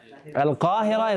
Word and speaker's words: القاهرة: Al-Qahira is how they say Cairo.